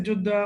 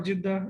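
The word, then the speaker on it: Jeddah: went to Ja or this is Juda or Jidda it's like different pronunciations.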